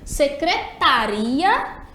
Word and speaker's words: secretaria: Olha aí o erro secretaria é uma palavra que a tônica tá no link que eu me confundi agora secretaria né que no caso a palavra é Secretaria a E no caso secretária já é outra palavra com outro assento tá vendo a dúvida